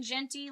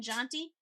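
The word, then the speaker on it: Jeanty: And yes, will I now be saying Ashton Genty like Plenty instead of Ashton Janty? 100%. Why? Because well, that's the only way I remember to say it correctly.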